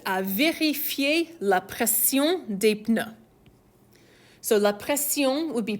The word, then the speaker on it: pneus: So you're going to notice French in a word like that, des pneus, is going to pronounce the P. Well, we wouldn't pronounce that in English. So that's the same root word as words like pneumatic and pneumonia that sound like start with a silent P in English, but you'll pronounce that P in French.